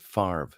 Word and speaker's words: Favre: I like Le farv you know how Brett Favre in Wisconsin uh used to uh yeah fabre and uh uh or it looks like favor I think and he pronounce it farv so uh Kenny will